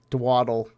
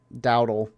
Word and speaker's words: Dowdle: Dak Prescott gets a pass to, I forget how to say this guy's name, Dwaddle. I'm going to go with Dwaddle. Dowdle. Yeah, Dowdle.